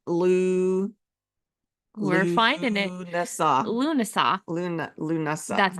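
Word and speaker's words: Lughnasadh: say it wow Lou we're finding it Luna lunasa Luna Luna that's not what I was gonna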